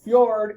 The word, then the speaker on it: fjord: to say f uh that J comes off like a y okay picture Ikea if you've been to Ikea they got a lot neat ways to pronounce things there um so a fjord is an inundated glacial